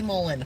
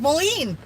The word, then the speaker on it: Moline: shut up yes Susie I have learned how to say Mullen there's an eye in it there is an eye